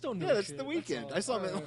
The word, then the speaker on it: The Weeknd: the weekend, but he's missing an E.